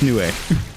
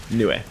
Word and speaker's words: Nue: It's technically a Japanese name, so each of the vowels gets a syllable. Right, it's Nioh. Nioh.